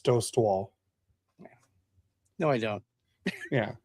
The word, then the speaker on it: Dostal: And by the way, Dad, you have to say it right. It's Dost Wall.